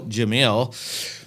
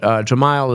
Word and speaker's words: Gemayel: Well, it's Gemayel is a proper pronunciation. Now that I know you know Arabic, now I actually want to sit and learn something. You got to try to say it right, but Gemayel is the way I usually say it in English.